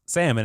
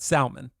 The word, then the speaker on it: salmon: why is salmon pronounced salmon and not Salman the L is silent but doesn't make any